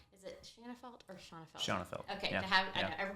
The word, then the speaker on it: Shanafelt: Shanafelt. Okay, Yeah. to have, I Yeah. know everybody pronounces Yep.